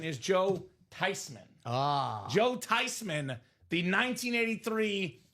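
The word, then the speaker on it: Theismann: It's not pronounced theman. It's not pronounced Thyman. The proper pronunciation is Joe Tyman.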